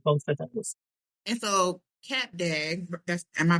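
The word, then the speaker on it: Cap d'Agde: And so, Cap Dag, am I pronouncing it correctly? Yeah. Okay. Cap Dag.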